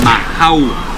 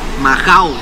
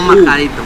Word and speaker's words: majao: En realidad la pronunciación cambia, un majau. Majao, no majadito, majao. Porque viene de majar, o sea, de moler, de hacer la carne, viene de majar.